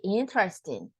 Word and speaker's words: interesting: It sounds like when you say interesting, interesting. We omit the second E, but it sounds indirectly, but we don't really pronounce it.